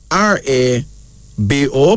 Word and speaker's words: Rabo: owino then there's Rubble Rubble r-a-b-o pronounced rabo this is from the